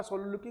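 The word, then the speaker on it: soliloquy: और वो आपका सोलोलोक्वी कुछ अलग है। इसको हम सही प्रोनाउंसिएशन है सलोलोक्वी, नॉट सोलोलोक्वी, इट इज सलोलोक्वी।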